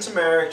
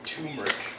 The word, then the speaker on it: turmeric: all in there isn't tameric just another word for curry that's the same in curry isn't it all I know is is pronounced turmeric and I don't know